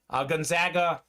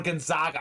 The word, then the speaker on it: Gonzaga: I would like to see Gonzaga or Gonzaga. I hear the different pronunciations. I go with Gonzaga.